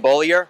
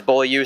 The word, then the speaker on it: Bollier: It's Bollier. That's correct. Yes, sir. Oh man, I always thought it was Bollier, so I'll make sure that I pronounce it right.